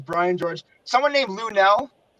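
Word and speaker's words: Luenell: Someone named Lunel. It's spelled L-U-E-N.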